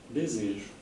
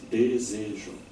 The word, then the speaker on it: desejo: Desejo. No Brasil tem 3 sílabas. Desejo. Em Portugal tem uma.